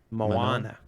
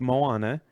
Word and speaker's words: Moana: Moana. Moana. I would say is how I would pronounce that.